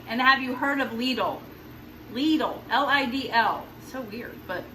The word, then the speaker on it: Lidl: And have you heard of Lidl? Lidl, L-I-D-L. So weird, but that's what it's called. We had to ask them because we didn't know how to pronounce it. We were like, Lidl, Lidl.